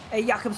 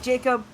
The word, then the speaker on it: Jakob: Jakob's on the ball here. Apologies, we had a little bit of a pronunciation error. It is Jakob instead of Jacob. So make sure to get that right.